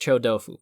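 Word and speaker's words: 臭豆腐: It's pronounced chodofu, but I speak every language idiosyncratically.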